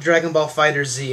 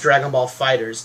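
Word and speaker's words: Dragon Ball FighterZ: pronouncing Dragonball fighters yeah it's not Dragonball fighters Z it's just Dragonball fighters the S is turned into a Z so that's our bad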